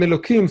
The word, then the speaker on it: Elokim: with an h but we pronounce it with the k uh as i said